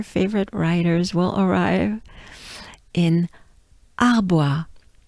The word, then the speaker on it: Arbois: writers will arrive in arbois. Arbois. So here we have the French a, a. We have the bois, wa. So bois, bois. Encore bois, arbois.